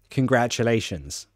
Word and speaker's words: congratulations: problems pronouncing this word congratulations so let's do it in halfs lay shins that should be easy lations say it with me if it's difficult you need the practice lations lations okay next